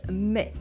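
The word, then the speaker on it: mais: everyday spoken French the most direct alternative is me me it's the adverb but in English me me me with the silent S at the end me you will also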